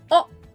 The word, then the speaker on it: を: I know it is spelled in the British alphabet as what, but actually you don't really say the W at the beginning. It's just oh, wo, wo, wo, oh.